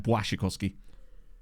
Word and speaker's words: Błaszczykowski: Like in Błaszczykowski. Instead of Błaszczykowski, it's like Błaszczykowski. Polish speakers will be able to explain it better, but that's essentially... It's like a kind of W type sound.